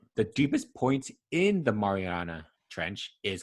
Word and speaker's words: Mariana Trench: marinara oh all right so how you say it is the mariana trench yeah so to me it kind of sounds like marinara but it's the mariana